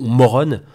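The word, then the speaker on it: Morón: mauron en espagne alors je passe ça se prononce moreau morrone bas pour les états unis on va dire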